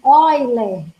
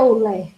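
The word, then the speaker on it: Euler: a função de boiler é escrito com e o início mas pronuncia-se other e não é olé ok então tá dizendo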